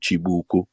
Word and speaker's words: chibuku: called chibuku if you google if you google c h i b u k u chibuku but i'm pronouncing it proper styles that's